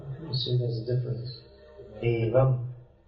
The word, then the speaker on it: evam: Evam, here the sound is short.